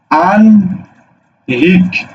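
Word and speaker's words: আহ্নিক: বুঝছো হয় নয় থাকলে ন এর উচ্চারণ আগে হবে হ এর উচ্চারণ পরে হবে একইভাবে হয় লয় যদি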